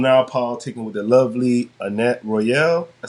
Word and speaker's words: Annyett Royale: I'm now politicking with the lovely Annyett Royale. I said your name right? I don't want to say it wrong. No, it's Annyett Royale.